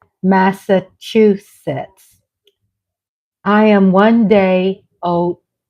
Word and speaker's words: Massachusetts: words I didn't know I thought this state was pronounced massachusett until I met my husband Andre how do you say Massachusetts I went to a southern school at a southern teacher my teacher taught me massues and then my husband teaches me it's Massachusetts I am one day